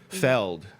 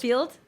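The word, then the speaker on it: Feeld: coffee meets bagel, grinder, her feld. You mean Field? Field. I'm pronouncing it wrong.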